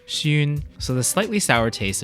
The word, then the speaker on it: 酸: Also, in Cantonese, the word for sour shares the same sound as grandchild, xun, so the slightly sour